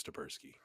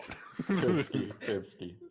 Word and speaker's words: Turbsky: So which one of you guys is Stabersky? Or am I pronouncing it correctly? Number one, Turbsky. It's Turbsky. Yeah. My bad. I've been adding extra syllables this entire time.